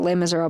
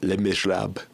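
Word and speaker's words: Les Misérables: lame as Rob yeah it's not lame as Rob BL no that's not how you pronounce it it's cuz it's like Miserables the miserable the miserable it's French plural but you pronounce it l miserab like a mouth full of peanut butter L Miser L for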